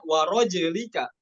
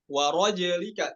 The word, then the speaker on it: ورجلك: ya di riwayat lain dibacanya warojlika. Warojlika, jimnya dibaca sukun. Namun dalam ini hafaz dibaca kasroh.